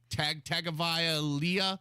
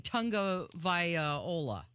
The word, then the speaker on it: Tagovailoa: It looks like Tagovailoa. Yeah, something like that. No, it's you're saying Tagovailoa.